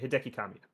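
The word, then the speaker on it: Hideki Kamiya: but his name hiaki yeah Hideki that's right Hideki Kamia Hideki Kamia will'll be leaving the studio on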